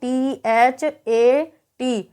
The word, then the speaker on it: that: इसी प्रकार से जब टी के बाद में एच आ रहा हो तो यहाँ पर आप देख सकते हैं उसका उच्चारण द भी हो सकता है और थ भी हो सकता है। तो THAT, तो यहाँ पर टी के बाद एच आ रहा है, तो यहाँ पर टी का उच्चारण द होगा। तो हम इसको कैसे पढ़ेंगे, THAT, तो दैट।